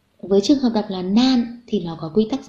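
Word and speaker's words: 何: Thì đứng sau nan nó là desu ka, thì nó thuộc hàng D, do đó lúc này mình phải đọc là nan.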